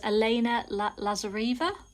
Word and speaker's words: Elena Lazareva: but artwork is by never say this elena lazareva that's how you say it this one's quite a